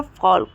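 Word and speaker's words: folk: में भी साइलेंट है और फॉक फॉक फॉक में भी एल साइलेंट है यहां पर भी एल का उच्चारण नहीं होगा मतलब एल का प्रोनाउंस एशन नहीं होगा ठीक है तो आप लोगों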